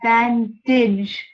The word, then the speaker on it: bandage: bandage bandage bandage yeah remember that the G spelling is the J sound bandage bandage bandage exactly thank